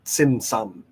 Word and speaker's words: Tzimtzum: Now, this Tzimtzum, spelt T-Z, not with a silent T, basically, Tzimtzum, It describes this interesting balance between presence and absence.